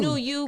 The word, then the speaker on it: NUU: So it's New You, but it's just spelled differently. NUU.